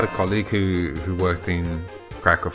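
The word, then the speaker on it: Kraków: Actually, I had a colleague who worked in Krakow. I said Krakow, but you guys probably know it as Krakow, right? Because of the German pronunciation.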